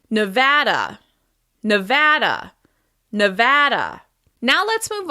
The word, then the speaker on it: Nevada: You may hear Americans from other parts of the country say Nevada. Nevada. But locals pronounce it Nevada. Nevada with stress on the second syllable. Nevada, Nevada, Nevada.